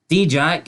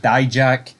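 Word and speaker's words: Dijak: D-Jack, and there's two ways to say it. D-Jack, Die-Jack. I think I say Die-Jack.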